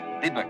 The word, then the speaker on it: Dubuque: Oh, that's pronounced Dubuque, Mama. Dubuque.